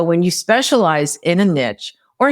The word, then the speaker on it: niche: have different niche than they do, you can refer clients to each other too.